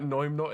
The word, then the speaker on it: Noimnot: And was I correct in saying that Noimnot is not how you say your name?